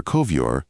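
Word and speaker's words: ковёр: representing Edgar Poe, and where Kovyor, carpet, is made to rhyme with the English sir transliterated as shore.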